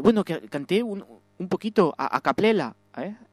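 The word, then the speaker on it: a cappella: Bueno, que canté un poquito a capela, ¿eh? A camela.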